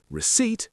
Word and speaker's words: receipt: We also have island with a silent S, biscuit with a silent U, receipt with a silent P, and muscle with a silent C.